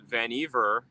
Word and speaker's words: Vannevar: And when Tesla died, John Trump, Vannevar Bush, I gotta say it like Beaver now, his understudy, John Trump,